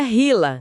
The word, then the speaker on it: HeLa: Eram as primeiras células humanas imortais cultivadas e ganharam um nome que entraria pra história da ciência, hela, que se pronuncia hila, né?